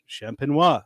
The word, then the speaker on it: Champenois: So, Champenois, same thing. So just don't pronounce the last syllable, and you're good.